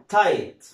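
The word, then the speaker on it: tight: طيب ها تي اي جي اتش تي بيتنطقوا ايه؟ طبعا هنا برضو جي اتش اهي جاء قبلها حرف الاي، حرف فاول، حرف متحرك، ما نطقش جي اتش، زي كلمه تايت، زي كلمه ايه؟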